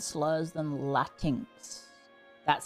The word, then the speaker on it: Latinx: Latin X is pronounced Latinx.